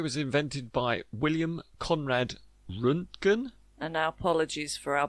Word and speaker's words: Röntgen: They call it a Rottingen? Is it a how do you say it? I think it was invented by William Conrad Röntgen.